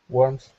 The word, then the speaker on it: warmth: Warmth. Good. Yeah. So it sounded like you had an S sound at the end, but just try and stick with that th sound.